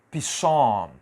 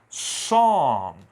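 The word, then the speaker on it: psalm: o p e aqui eu não vou dizer pissom pissom negativo a pronúncia aqui é som som eu começo direto na letra S Você viu que todos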